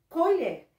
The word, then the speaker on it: colher: Nesta palavra colher, a palavra que eu tenho aqui, colher. Nós já descobrimos que a última sílaba, ela é a mais forte.